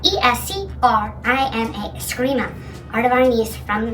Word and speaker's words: Eskrima: It's spelled E-S-C-R-I-M-A, Eskrima, art of our niece from the Philippines.